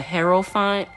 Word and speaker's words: Hierophant: Some people pronounce that as the Hierophant. I pronounced it the Aerophant because I was told that when these letters together, it's pronounced like air.